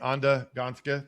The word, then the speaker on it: Anda Gansca: Anda Gansca. Did I say it right? Yeah.